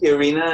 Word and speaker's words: Irina: Is it Irina? Is that how you pronounce it? Yeah. Okay. Irina.